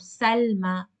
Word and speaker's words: Salma: So when you pronounce, you will only pronounce with one count, Salma.